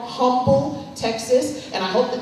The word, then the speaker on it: Humble: in here who will cringe at me saying Humble, Texas, because you're supposed to say humble, and I don't care. It's humble, okay? Spelled with an H.